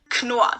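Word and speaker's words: Knorr: idea what this is knua the k is not silent here kanoa was founded in 1838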